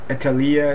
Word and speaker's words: Italia: to state that uh little italy italia that's how you say it in italian i italia these ramones